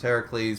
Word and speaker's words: Heracles: It's pronounced Heracles, but if you spell it with a U, it's Hercules.